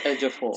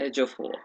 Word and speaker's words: Ejiofor: Egyptian master How do you assassin or pronounce his name something. again, please? Sorry, Han. Chiwetel Ejiofor. Stuartle. Ejiofor.